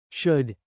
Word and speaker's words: should: In should and shouldn't, the letter L is silent.